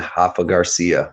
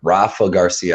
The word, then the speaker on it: Rafa Garcia: of the night i got jakar close and hoffa garcia rafa garcia i keep it uh i keep pronouncing his name remember i was getting corrected